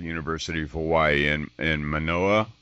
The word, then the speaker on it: Manoa: of Hawaii in in monoa is that pronounced correctly yes manoah Honolulu his mentor Dr